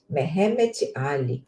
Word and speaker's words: Mehemet Ali: Mas me parece que é Mehetmet, é isso mesmo, Mehemet Ali.